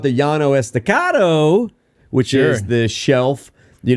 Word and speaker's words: Llano Estacado: Now, if you're talking about the Llano Estacado, which is the shelf, you know, above the Cap Rock, that is the Llano Estacado.